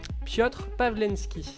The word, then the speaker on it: Piotr Pavlenski: Alors ça va être sur Piotr Pawlenski. C'est bien prononcé.